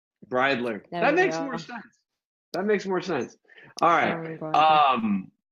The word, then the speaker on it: Bridler: my special guest today none other than Rowan Riddler I apologize if I butcher your name I'm terrible name pronunciation bradler that makes more sense alright so as with